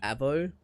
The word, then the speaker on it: AVO: Like, the phonetic pronunciation is just the letters Avo. Said like one word.